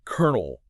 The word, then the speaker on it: colonel: Like kernel. That just sounds like kernel.